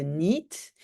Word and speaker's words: niet: Et on avait déjà vu avant que le T de niet et le D de goed ne sont pas toujours prononcés non plus.